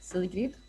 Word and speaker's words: Sigrid: your name sure so how i would pronounce it in my hometown of stockholm sweden would be silly so it's a little bit less i think upbeat than than the english version and sigrid is actually